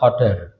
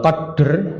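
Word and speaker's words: قدر: Ini qadar, bacanya qadar, yang artinya takdir. Ya. Kalau qadr itu artinya kadar. Kadar timbangan, perkiraan. Kalau qadar itu takdir.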